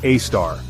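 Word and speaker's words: Sagittarius A*: Sagittarius, a asterisk, pronounced a star.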